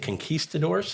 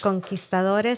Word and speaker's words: conquistadores: Well, the Spanish how do you say it? Conquistadors? Conquistadores? Yeah. Well, look at you. It's almost like you're Hispanic.